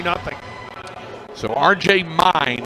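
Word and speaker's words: Myn: 3 nothing so RJ mine who spells it m y n but pronounce mine like yours and mine is on for the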